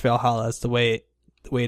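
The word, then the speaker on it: VA-11 Hall-A: it's called uh valhalla and it's not it's pronounced valhalla is the way the way to um the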